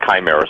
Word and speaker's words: chimera: this, but the word chimera, some people pronounce it chimera, pronounced chimera, C-H-I-M-E-R-A.